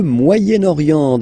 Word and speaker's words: Moyen-Orient: So it's interesting here because normally if you would have only this word here, you would pronounce it moyen, moyen, okay? But then as you get this vowel after, okay, you get to make the liaison between the two.